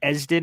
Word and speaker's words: Esden: Again, my name's Esden is how it's pronounced, just in case you Esden?